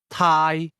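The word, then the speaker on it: 太: First the word to Thai Thai Thai is pronounced with a midle tone.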